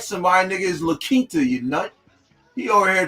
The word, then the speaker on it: La Quinta: It's La Quinta. It's La Quinta.